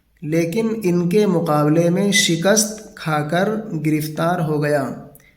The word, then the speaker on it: شکست: کر گرفتار ہو گیا۔ یہ لفظ صحیح تلفظ ہے اس کا، شکست، اگرچہ اس کو شکست پڑھ دیتے ہیں، لوگ پڑھتے بھی ہیں، لیکن اردو کا صحیح تلفظ ہے شکست۔ ہم نے بھی اس کو شکست ہی پڑھا ہے، آپ بھی شکست ہی پڑھیں۔ شکست کھا کر گرفتار